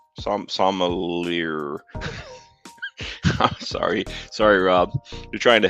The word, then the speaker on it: sommelier: I'll give a few more moments here for anybody else to don't pronounce the ER. So sommelier? Sommelier.